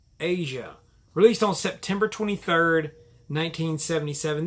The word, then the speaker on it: Aja: This is Asia, pronounced Asia, released on September 23rd, 1977.